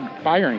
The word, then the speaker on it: Bayern: So watch a video where a German guy collaborated, and he's like, it's actually a Bayern curve. Bayern? Yeah. German pronunciation.